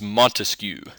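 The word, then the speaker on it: Montesquieu: to look at is monu I know his name can kind of seem hard to pronounce but it's pretty simple spelling it's a different story but think mosquito it's kind of the same thing so mon he wrote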